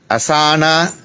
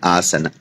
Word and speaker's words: asana: so at the end the beginning is a long a ah the end is a short a a this is how you get it so after giving us